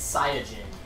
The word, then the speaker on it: Saiyajin: Because in Japanese it's Saiyajin, not Saiyan.